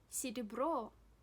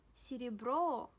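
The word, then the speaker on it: серебро: falls in this world CD bro CD bro CD bro yes the stress falls on oh please have a look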